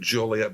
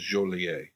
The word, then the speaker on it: Joliet: The Chicagoans pronounce it Joliet, but I believe the French pronunciation is Joliet.